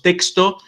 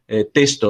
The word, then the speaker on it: texto: Y es curioso porque hasta el día de hoy mucha gente pronuncia testo, o sea, la letra X antes de consonante se puede pronunciar como una S.